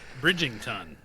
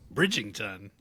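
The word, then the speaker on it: Bridgerton: here here in Alabama People pronounce that bridington that's what I've heard BR say it again Bridgton I don't know I could be wrong that's just the way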